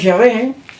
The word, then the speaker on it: Yahweh: Entonces se fue perdiendo la pronunciación real de ese nombre. Pero lo más cercano es Yahé. Los testigos Jehová dicen Yahweh o algo así.